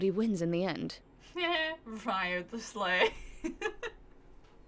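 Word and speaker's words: Wriothesley: Ryo the Sleigh. Ryo the Sleigh.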